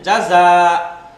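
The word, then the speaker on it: جَزَى: এরকমও থাকতে পারে, হ্যাঁ যদি ডটলেস ইয়ার পূর্বে খাড়া ফাথা বা নরমাল ফাথা থাকে, তখন এই ইয়া উচ্চারিত হয় না, বরং এটা মাদের সাথে উচ্চারণ হয়ে যাবে, হ্যাঁ জাযা।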